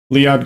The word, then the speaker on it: Lead: together what's my name my name's lead lead just like it's spelled l e a d